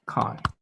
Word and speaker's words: chi: by this is called chi okay this is pronounced kai in click letter okay so so let's assume